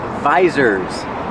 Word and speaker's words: visor: And these are called visors. Use the long I like ride and bike.